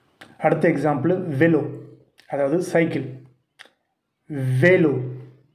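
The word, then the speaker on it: vélo: அடுத்த எக்ஸாம்பிள் வெலோ, அதாவது சைக்கிள், வேலோ. அப்புறங்க ஈ மேலே அக்ஸான் தேகி வரும்போது ஏ அப்படின்னு ப்ரொனவுன்ஸ் பண்ணுது, ஆ வேலோ.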